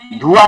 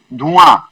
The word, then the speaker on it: धुआं: आ उच्चारण करते हैं ना, आ नाक से, जैसे धुआं, धुआं नहीं बोलते हैं, धुआं।